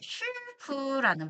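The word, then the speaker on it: 师傅: 자, 슈프라는 발음이 있습니다. 네, 이걸 우리말로 하면은 사부라는 발음인데요.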